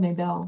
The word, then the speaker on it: Maybelle: I don't know if it's Mabel cuz it is spelled m a y b e l l e. Like that is how it's spelled but I believe she it's Mabel Blair.